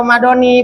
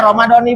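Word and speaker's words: رمضانِ: tuh itu sempurnanya niat dibacanya ramadona apa ramadoni boleh ramadona boleh ramadoni boleh jangan berantem gara-gara ramadona sama ramadoni pada berantem gimana kitu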